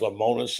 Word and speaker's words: Lemonis: Zach Selman announced today that Chris, is it pronounced Lemonis?